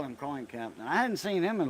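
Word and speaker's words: Capton: It's It's pronounced caption. You know, like a caption, close caption for the hearing impaired.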